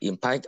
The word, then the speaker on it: impact: and his impact on the world of footballs have always let me intrigued me. Ok, mình có từ impact. Impact nói lại nào. Impact. Ok, impact means stress the first syllable ha, impact on the world.